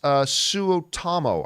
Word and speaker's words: Suotamo: Jonas Suotamo, I believe is how you say his name.